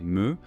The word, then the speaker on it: me: Le terme sumérien qui exprime le mieux cette réalité est « me », prononcé « me », un mot dont la traduction est notablement difficile et qui a fait l'objet de nombreux débats parmi les assyriologues.